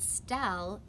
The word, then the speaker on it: Stell: I hate that Stell rhymes with smell, and I don't really like my name Stella anymore at all.